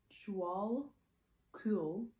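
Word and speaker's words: Djwal Khul: Dval Kul, pronounced Dval Kul, known as the Tibetan, is a Tibetan Buddhist master.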